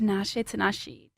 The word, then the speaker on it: Tinashe: with that right accent well it's on the second syllable the accent on the T like that I'm always like is it t Tanashi no yeah yeah t